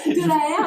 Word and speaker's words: Delaere: Ben en fait, j'ai donc mon profil Facebook Delahaire, donc ça c'est comme ça se prononce. Comme ça se prononce, Delahaire, Delahaire.